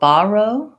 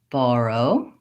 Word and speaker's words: borrow: in between it's okay these two vowels the aw and the AH in some areas of the u.s. those two have merged and there's kind of an in-between vowel people don't really make a strong distinction between them so either one of those options will be good for this word then when I add